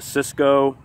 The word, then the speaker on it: Szco: there it is the Cisco western bowie and that's it's it's pronounced Cisco but it's spelled s